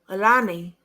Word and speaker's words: Allahnia: Her grandmother said to me on TikTok, her name is Alana.